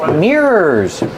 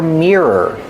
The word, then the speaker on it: mirror: It has mirrors. Remember the pronunciation for mirror. The first syllable is ear, like ear. Mirror. Connected with the sound, like burger, together.